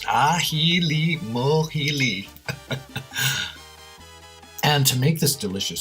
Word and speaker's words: Ajilimójili: make a Halima healy a Puerto Rican condiment pronounced aji Lee mul healy and to make this